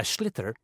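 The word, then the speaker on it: sliotar: This is what it looks like, and basically you have to get this ball, called a schlitter, that's S-L-I-O-T-A-R, so it's not spelt the way it's pronounced.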